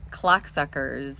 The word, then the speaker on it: clocksuckers: book, How to Navigate Clocksuckers and Lead a Happy, Abundant Life. Yes, I did say clocksuckers, and there is an L in clocksuckers, so please don't mispronounce it and get me in trouble with HR leadership.